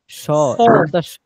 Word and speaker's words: sword: সোর্ড, sword. শর্ট হবে না কিন্তু, সোর্ড, সিন দিয়ে, Sword.